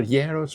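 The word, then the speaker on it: γέρος: These are two words that are written the same, but the tone, the stress is on a different syllable. Yeros means old, an old man.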